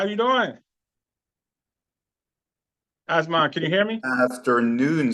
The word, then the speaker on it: Asmund: It's pronounced Asmund.